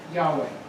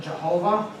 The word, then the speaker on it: Yahweh: word as the second go this word is pronounced Yahweh all right some people have missed translated into spoken it and called it Jehovah that's not correct okay right Yahweh is this